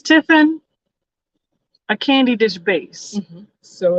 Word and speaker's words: Tiffin: paulo at all but tiffin is ti ffi in right so it's one of those ones that doesn't necessarily sound like it's spelled but for anybody who